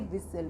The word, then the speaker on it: whistle: तो इसमें STLE का कॉम्बिनेशन भी है और हमारा टी लेटर से पहले S भी है, इसलिए इसमें टी साइलेंट होगा। तो इसको हम विस्टल ना बोल करके इसे हम बोलेंगे विसल।